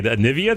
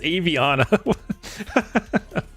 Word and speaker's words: Aviana: Anivia. Did I say Anivia wrong? Or is it Aviana? Oh, Anivvia is the league hero. Yeah, it's Aviana.